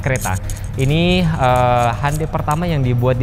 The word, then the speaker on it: Creta: Bukan kereta pakai K ya, tapi cereta. Bacanya kereta.